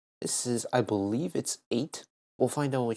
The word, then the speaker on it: eite: All right, first of all, pronunciation. Eite.